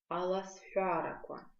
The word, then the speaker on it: аласфяраква: Скороговорки на абазинском языке аласфяраква. Аласфяраква. Да? Звук х в слове аласфяраква. Давайте на него обратим внимание и запомним, что пишется он как х, палочка в, произносится как х.